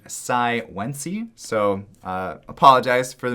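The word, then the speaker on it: Cai Wenji: And her name is, apparently I was corrected on my previous video, I called her Sai Wenji, but she is apparently named Sai Wenji. So apologize for the mispronunciation, but Sai Wenji, number 3 on the list here.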